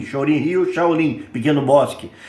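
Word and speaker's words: Shorin-ryu: é, por exemplo, karatê Shorin Rio, que que é uma pronúncia japonesa de Shaolin, Shorin Rio, Shaolin, pequeno bosque.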